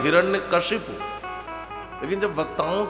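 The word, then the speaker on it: हिरण्यकशिपु: शुद्ध नाम है हिरण्य कशिपु।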